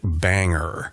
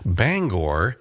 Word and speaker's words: Bangor: By the way, if you visit Bangor, be sure not to pronounce it Banger. The locals hate that! Bangor is the correct pronunciation.